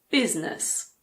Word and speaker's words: business: The main exception is in the word business. It's not busyness, it's business.